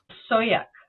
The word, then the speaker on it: Sauyaq: Is it? Sauyaq.